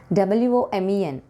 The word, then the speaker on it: women: How do you pronounce B-O-W-L? It is not bowl, bowl. W-O-M-E-N, women, it's women.